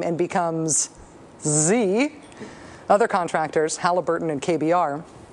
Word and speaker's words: Xe: Blackwater, as of today, would prefer to be called Z. Z? Z. Better yet, it is pronounced Z, but it's spelled X-E.